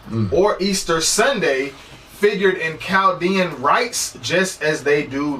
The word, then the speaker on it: Chaldean: I'm Chaldean. And the H is silent in Arabic, okay?